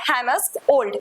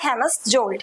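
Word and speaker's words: Hammarskjöld: यहां पे जे साइलेंट है। सो जे इज़ साइलेंट हियर। तो इसकी प्रोनंसिएशन क्या होगी? डैग हैमस ओल्ड ना कि डैग हैमस जल्।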